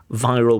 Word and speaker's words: viral: super wild viral viral with a V. So the candidate has clear problems with the W and the V sound, right?